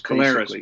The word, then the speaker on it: Collaros: Well, it's basically been Collaros, basically. Collaros. Okay. See, and I'm a guy that I like to pronounce it properly, and I'll admit when I'm not sure, so that I eventually learn.